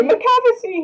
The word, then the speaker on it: Macavity: But on the plus side, it gives monsters a And it stops because you're supposed to go Macavity here to rhyme with gravity.